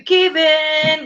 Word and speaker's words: Keevan: It's spelled like Kevin, but it's Keevan.